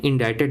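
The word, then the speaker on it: indicted: इंडिकेटेड लिखते हैं। इंडाइटेड बोलते हैं।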